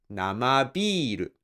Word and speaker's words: 生ビール: When these two words are connected together, you place the accent on the first sound or the first molar of the second word. So it's gonna be 生ビール.